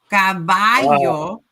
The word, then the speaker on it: caballo: How do we pronounce hair? Hair is cabello. Cabello. hmm Mhm. And horse would be what? Caballo.